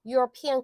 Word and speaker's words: European: 자, European country 똑같아요. 얘도 어떻게 소리 나요? European country잖아요. 유럽의 나라. 그렇죠? European country. 그래서 얘도 a European country라고 얘기를 하는 거고요.